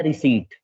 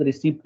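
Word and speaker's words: receipt: तीसरा आता है रिसीट। ठीक है, इसमें पी साइलेंट होता है, ध्यान रखिएगा, इसको रिसीट बोलते हैं सबको। ठीक है, कई कई लोग रिसिप्ट बोलते हैं, बट पी साइलेंट रखना है आपको।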